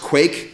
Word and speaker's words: Quaich: what we're talking about the system it's pronounced quake and I'll talk in